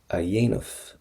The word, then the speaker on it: a dhéanamh: Do chóra a dhéanamh. Do chóra a dhéanamh. Now first thing is, let's get your pronunciation done right. That has to get a Y sound.